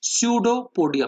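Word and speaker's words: pseudopodia: से, जिनको कहते हैं स्यूडोपोडिया। पी साइलेंट है बच्चों, स्यूडो मतलब फॉल्स और पोडस, पोडिया मतलब लेग्स, फॉल्स लेग्स की मदद से।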